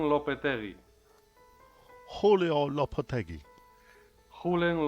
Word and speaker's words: Lopetegui: Low-Puh-Teh-Gee. Julen Lopetegui. Julio Lopetegui. Julen Lopetegui.